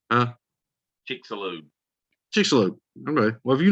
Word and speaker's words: Chicxulub: In fact, the comet is moving 4 times faster than the Chicxulub. That's the one I couldn't pronounce. Huh? Chicxulub.